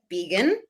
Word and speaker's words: Began: So my name is Began. I say it rhymes with vegan, which I am not, but it is spelled like begin, which actually coincidentally aligns